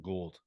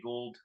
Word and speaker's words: Gould: gold I you know I always say Gould I had a I always said gold too yeah I had some friends that had that spelled their name the same exact way and they pronounced it gold um so forgive me Robbie if if I got it wrong um but yeah I I I read it as gold so um yeah I'm